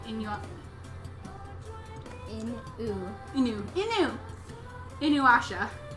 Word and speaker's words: Inuyasha: in you right in your new you know Inuyasha Inuyasha not you not you let's just answer the